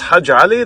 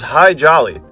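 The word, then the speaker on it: Hadji Ali: Greek Syrian descent but since Americans couldn't pronounce hajjali they referred to him as high jolly and he was an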